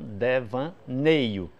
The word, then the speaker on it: devaneio: A palavra devaneio, qual é a sílaba forte? Nei. Né? Então, devaneio. Você vai ver que freio